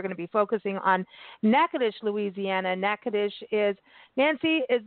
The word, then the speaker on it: Natchitoches: state of Louisiana and it is spelled n a TC h i t o c h s so looks like you're going to say na toas but it's nacadish and this is the